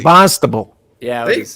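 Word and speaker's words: Barnstable: Bonstable. Bonstable.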